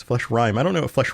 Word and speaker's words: Fleshrime: Bite of flesh rhyme. Flesh rhyme is spelled FLESHRIME, not rhyme like a lyric would rhyme.